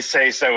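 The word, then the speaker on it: seiso: ] say so but the way say so is spelled is it's spelled s i s o which say so in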